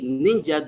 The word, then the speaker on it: ninja: So we say ninja the way it is pronounced in Japanese, ninja, or boondocks, where the language where it came from, that's how it is pronounced.